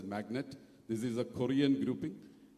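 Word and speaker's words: MACNAT: We have had SIDM from the defense manufacturers but globally there's an organization called Magnet MAC NAT. It's it's pronounced as magnet.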